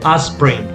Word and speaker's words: aspirin: reduce for example this instead of say aspiring people you should say asprin offspring the same